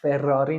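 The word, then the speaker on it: Ferrari: برای ما مثال میزد در زبان ایتالی یایی فراری فراری نامیده میشه برای اینکه تشدید هاش خونده میشه و کمی قوی‌تر و اینتنس تر تلفظ میشه به چه دلیل به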